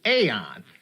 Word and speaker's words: Aeon: Trevor Goodchild was played by John Rafter Lee, who is the only person involved in the series to pronounce Eon as Aeon. So, if you want to pronounce it that way, technically it is correct.